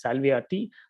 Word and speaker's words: Salviati: the heliocentric uh copenhagen viewpoint the name is salviati i think i mispronounced it last time um yeah in addition